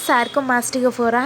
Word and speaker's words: Sarcomastigophora: Let me break this word down for you. Okay, sar. Sir. You call in Telugu. You call it as sar. Okay. Comma, coma, right? Mastigo, fora.